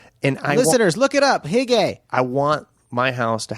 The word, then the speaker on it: hygge: It's called hygge. It's Hygge. Okay. Yeah. Hygge. And listeners, look it up. Hygge.